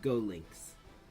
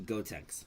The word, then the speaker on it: Gotenks: Candyman, Terry Uwu, and Go Links. Let's go. Oh, it's actually Gotenks. My bad. Mispronunciation moment.